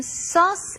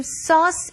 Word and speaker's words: sauce: I want to make some sauce out of tomatoes. I want to make some sauce out of tomatoes. 자, 소스 발음하실 때요. 소스가 아니라 sauce.